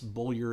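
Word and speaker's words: Beaulieu: Bradley Boyer and yes bullior is how it is pronounced I had to look it up uh it's not spelled that way but that's how it is pronounced the first book is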